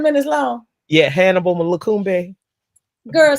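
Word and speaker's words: Hannibal Lokumbe: He's a famous trumpeter, Hannibal Lakumbe. Hannibal Lakumbe.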